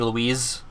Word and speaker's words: Luis: Is this gonna be Louise? That Leon kept mispronouncing as Lewis in the first one?